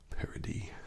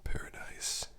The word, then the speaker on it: Paradis: I would say Angel Share Paradis, but it's not spelled like paradise, rather it's spelled kind of like Paradis, I guess.